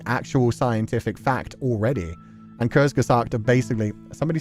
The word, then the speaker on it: Kurzgesagt: And Kurzgesagt are basically, somebody said it's Ku rather than Kurzgesagt. The Ku in Kurzgesagt is pronounced like Ku, by the way.